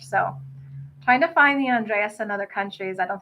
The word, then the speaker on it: Andrés: from nova scotia and so i always say andreas like e-a-s but it's andreas like who's someone famous the name on js